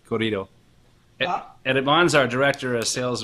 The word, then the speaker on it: Corrido: how to actually say corrido. Edmon's our director of sales and marketing, and he's actually from Nogales. Sonora. So it's Tequila Corrido. Corrido, right? Corrido. Yeah, you gotta really roll your R's.